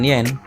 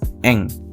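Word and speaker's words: 円: Kalau dalam mata uang yen itu menggunakan kata eng ya, bukan yen, tapi untuk pelafalannya eng. Seperti contoh, rokuseng hapyaku eng des. Rokuseng hapyaku eng des. Bukan rokusen hapyaku yen des. Bukan seperti itu ya teman-teman, tapi menggunakan eng.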